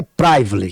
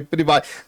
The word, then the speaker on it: Priv: gente ia preparar e a pronúncia certa é priv priv tá eu prival é priv problema muita gente chama de prival o prival vem de